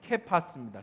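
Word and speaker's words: Κηφᾶς: 해줬죠 개파 개바 개파스 원래 버는 발음은 케파스입니다 케파스 아람 언데요 아람어라는 건 무슨 얘기냐면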